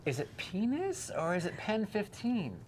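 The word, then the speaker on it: PEN15: I'm like, is it penis or is it Pen 15? Well, Like, what's the I'll actual explain name? it to you. What's the name of the show? Well, it would be pronounced Pen 15 Okay.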